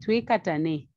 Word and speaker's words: Twikatane: the name to katanae we normally call it katani but i'll pronounce it uh the zambian way tui katane trikatane simply means let's